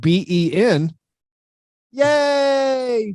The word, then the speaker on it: Beignets: A place called Beignets, not spelled like beignet, but Ben. Yay!